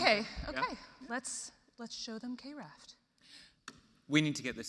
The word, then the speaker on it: KRaft: It's KRaft. Let's do it. It's better, close, you're almost there. It's KRaft, darling. Oh my gosh. Okay, KRaft. Let's do it. No, it's KRaft. KRaft like it rhymes with graph.